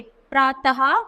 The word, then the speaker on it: प्रातः: प्रातः स्वतः आदि तो विसर्ग का उच्चारण हा की तरह होता है जैसे अतः प्रा कैसे पढ़े हमने इसको विसर्ग को है की तरह पढ़ेंगे तो प्राय है प्रातः स्वतः और वैसे ही अतः तो जहां भी वि सर्ग आए उसको हमें है की तरह पढ़ना है फिर व्यंजन तो किसी